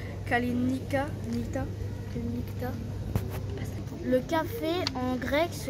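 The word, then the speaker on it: Καληνύχτα: dit kalalispera bonne nuit en grec ça se prononce kalalenicaa le café en grec se dit au café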